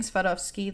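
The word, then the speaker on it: Swarovski: end quote side note I'm pronouncing sadovski that way because that's how I would pronounce it in Polish and I'm not sorry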